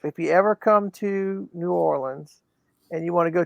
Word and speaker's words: New Orleans: not Nolans. No. From here says Nolans. People from not here say it's New Orleans. New Orleans. How do you say New Orleans?